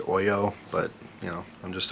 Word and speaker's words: Hoyo: but by the way a lot of people say hoyo I believe it's pronounced Oyo but you know I'm